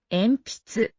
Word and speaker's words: 鉛筆: Enpitsu. No. That's incorrect. Because of P, it's an M. You pronounce it as an M and not like a M.